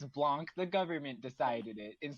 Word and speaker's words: Blanche: I like Blanche, actually. Blanche. Like Golden Girls. Maybe that's how I was just pronouncing that name. Yes, it's Blanche, but pronounced Blanc.